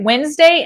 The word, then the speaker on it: Wednesday: All right, Wednesday and May. Why don't we pronounce the D?